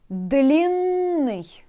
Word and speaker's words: длинный: there, double N, and when you pronounce it, you can feel it. Длинный, you see? You like stuck here at the N. Why? Because two N there.